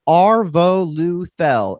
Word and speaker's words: Arvoluthel: And so instead of saying TH, which is like 2 syllables, you could just say th, which is 1.